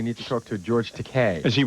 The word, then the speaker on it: Takei: George Takei is, it's Takei, by the way. No, it's Takei. Is it? Rhymes with okay.